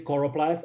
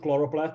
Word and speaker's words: choropleth: side note uh it's uh it indeed is choropleth and it's it's not chloroplast it's it's a very common mistake to to mispronounce it or mism write it and the